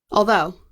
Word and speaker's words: although: Although. And the strong syllable is number 2.